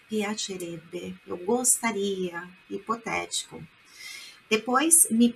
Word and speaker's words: piacerebbe: Olha a pronúncia, piacerebbe.